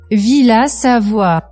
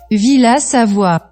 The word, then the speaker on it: Villa Savoye: Lo que vamos a modelar es la Villa Savoye de Le Corbusier, o ¿cómo se dice esto? Villa Savoie. Villa Savoie.